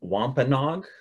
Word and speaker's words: Wampanoag: massachusetts people um and to some extent the wampanoag who they were closely allied and uh uh very culturally related to um that's how you pronounce that term wampanog um it's a word that you probably will